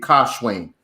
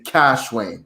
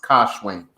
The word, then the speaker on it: Kash-Wayne: up as a child well um it's actually pronounced like um the in like in in pakistan they would say kashwing um there's a lot of indian influence in